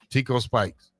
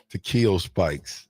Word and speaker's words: Takeo Spikes: Tico Spikes. Takeo Spikes.